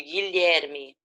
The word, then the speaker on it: Guilherme: e fica aqui ok a gente não pronuncia a letra u é que gui o guilherme o ig é de